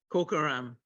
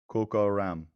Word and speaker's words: Kokaram: Say Coca-Cola. Coca-Cola. Kokaram. Kokaram. You got it? Kokaram.